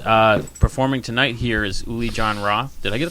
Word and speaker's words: Uli Jon Roth: in Plymouth and uh performing tonight here is ulie John Roth did I get a pronunciation of that right yeah oh figured I'd